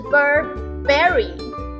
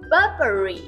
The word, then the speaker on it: Burberry: 下面一位来自英国的巴宝莉，不是 Burberry，是 Burberry Burberry，重音放在前面。